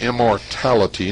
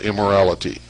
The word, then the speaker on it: immortality: It's immortality, not immorality. Immortality.